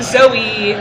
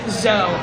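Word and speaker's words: Zoë: And umlaut is what makes the name Zoe with that hard E.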